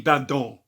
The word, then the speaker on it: Badon: That's how I'm going to pronounce it from now on, because I Googled pronunciations and it's like a French thing. So it's going to be Badon.